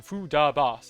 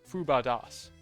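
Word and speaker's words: Fubadas: it wrong i have been saying foo da bas it's fuba das i've been saying the syllables in the wrong order that's so embarrassing i'm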